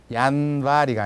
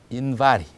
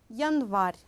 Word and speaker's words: январь: 그러니까 예와 야의 강세가 없을 때는 대략 이처럼 발음하면 됩니다. 1월 달도 얀바리가 아니라 인바리. 그 다음에 탑은 마슈냐 이렇게 발음을 하면 됩니다. Завод завтра. Игра имя. Автобус. Пальто. Окно. Москва. Звезда. Весна. Море. Язык. Январь.